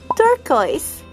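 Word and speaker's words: turquoise: dice turquesa en inglés es muy parecido turquesa se dice turkoise turkoise ya lo tienen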